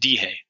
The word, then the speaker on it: dije: And if you notice, as I mentioned previously about decir, the E becomes an I. So those conjugations would be pronounced dihe, I said or I told, dijiste, dijo, dijimos, dijeron.